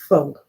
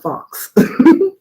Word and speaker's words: faux: get further into this faux Locs f-a-u-x is pronounced fog not Fox it's full box okay um and to answer